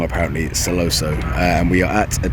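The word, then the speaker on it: Sentosa: off in celoso so turns out i've been pronouncing it wrong apparently celoso and we are at a place called ola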